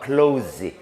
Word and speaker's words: close: close, z 사운드가 나죠.